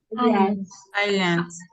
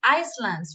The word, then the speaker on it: islands: else the canary Iceland Islands Islands we don't say icelands remember Iceland is the country